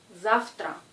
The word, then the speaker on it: завтра: Ici, vous voyez que la lettre V est sonore, mais elle précède la lettre T, qui est sourde. Et ce mot se prononce завтра, завтра.